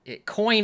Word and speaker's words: Coyne: I mean, it's pronounced phonetically to the most part, but like, I've never heard of another human being with that last name before.